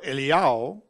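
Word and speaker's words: Eliyahu: eliao or elijah and elijah or eliao this is how his name is pronounced according to judaism he's one of the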